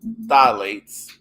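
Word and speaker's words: phthalates: vario markers of phytoestrogens dilates which i don't like the way they spell that because it's really the ph is silent anyway and you would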